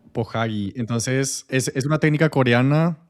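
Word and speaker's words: 보자기: Sí, en realidad en coreano significa otro que la verdad que no lo puedo pronunciar porque es muy complicado, pero sí, se le dice pohaji. Pohagi.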